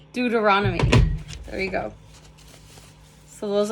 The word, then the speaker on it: Deuteronomy: It shows here Exodus, Numbers, and Deutonomy the Deuteronomy. Deuteronomy. I I really want to look this up because I don't like mis pronouncing words. Deuteronomy. Dut Deuteronomy. Deuteronomy. Deuteronomy.